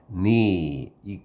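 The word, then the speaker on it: knee: 이렇게 무릎 밑에 살짝 치면 자동적으로 올라가는 그래서 자동적인 무릎반사의 자동적인 니이 K 발음이 안 돼요.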